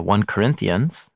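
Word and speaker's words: 1 Corinthians: ST you know uh by the one for we Americans say first yeah but there's no ST and it's definitely not his first letter he says in the letter that it's a second letter so anyway uh Dr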